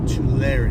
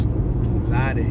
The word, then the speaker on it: Tulare: Pronunciation is Tulare. That's how we pronounce it. Or in Spanish, Tulare.